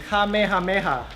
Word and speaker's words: Kamehameha: on man huh what why since always tonika kamehameha I just I literally reserved the same exact